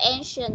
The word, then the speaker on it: ancient: Từ này đọc là ancient nha, chứ không phải là Asian nha.